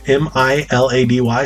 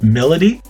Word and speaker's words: Milady: you uh another one her name is spelled my m-i-l-a-d-y so i was thinking it's milady but it's melody and then another one